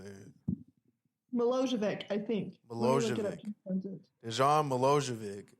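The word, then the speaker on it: Milojević: Milojevic.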